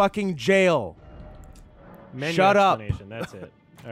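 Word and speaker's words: Gaol: guile cave and yes nerds we know it's pronounced jail expanation that's it all right no it's pronounced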